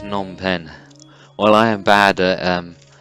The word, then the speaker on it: Phnom Penh: earlier than that and finally come to James pronounced Phnom Penh all I am bad pronouncing place name so